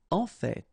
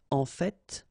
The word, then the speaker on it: en fait: En fait. So whether you pronounce the final T or not, you can hear both. En fait. En fait. En fait. I'd rather pronounce it personally.